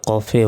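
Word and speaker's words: كاف: কফ অক্ষরটি চার সেকেন্ড টেনে পড়তে হবে আমরা কফে অনেকে ভুল উচ্চারণ করি কফ কে কাফ বলি এটা হচ্ছে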